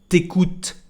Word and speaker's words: tu écoutes: Tu écoutes is interesting because most of the time when we've got a vowel just after tu, we don't pronounce the letter U. We just say t'écoutes, like T apostrophe and the verb.